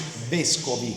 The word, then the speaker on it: Vescovi: Well, if you say it like properly in Italian, it's Vescovi. Vescovi. Vescovi. Vescovi. Vescovi. Okay. Yeah. The accent is on the E.